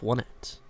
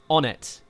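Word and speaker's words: Onett: South to the suburbs of Wanet. Am I saying it right? Onet. It's Onet.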